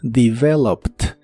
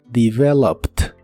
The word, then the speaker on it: developed: termina con e d aunque esa e d realmente se pronuncia como t Así que es developed developed en el pasado la